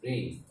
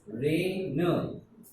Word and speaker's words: reign: The actual pronunciation is rain. I and G are silent.